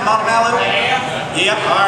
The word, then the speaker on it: Montevallo: Again, we're in Alabama, so we got to pronounce it that way. Did I get that right, Montevallo?